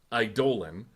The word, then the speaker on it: Eidolon: I definitely had a hard E at the beginning of that. Sorry, it's Eidolon.